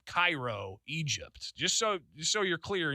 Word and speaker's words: Cairo: Spelled the same way as Cairo, but we say it here in Illinois, Cairo.